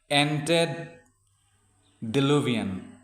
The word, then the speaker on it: antediluvian: তো ইয়াৰ কাৰেক্ট pronunciationটো হ'ব antediluvian.